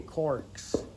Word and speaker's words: caulk: Petite anecdote amusante, les pitons pour un cheval, la plupart des gens disent des corks, mais ça s'écrit C-A-U-L-K. Fait que, vous pouvez vous imaginer, je demandais aux gens Do you want some caulk? Mais ça sonnait pas comme ça. Là. Ça T'enlevais le L, toi?